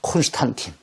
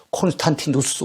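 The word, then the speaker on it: Constantinus: 콘스탄틴. 영어식 발음 콘스탄틴인데, 라틴식 발음한다고 어떻게 되겠습니까? 콘스탄티누스 황제.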